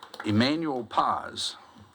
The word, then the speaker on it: Emmanuel Paz: Emmanuel Paz.